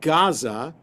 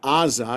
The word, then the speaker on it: Gaza: So that's why the city of Gaza is called Gaza and not Aza because it's spelled with an iing.